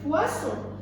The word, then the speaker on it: poisson: Regardez, les deux S sont entre un I et un O. On les prononce ce poisson.